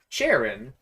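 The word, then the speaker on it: Cheren: like many Pokemon names uh like I like Sharon I didn't know Sharon spelled c-h-e-r-e-n was pronounced Sharon until I heard it pronounced in the anime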